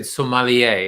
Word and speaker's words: sommelier: to pronounce it correctly i would have said somalia is that okay yeah yeah yeah yeah okay good it's a french word so yeah is yeah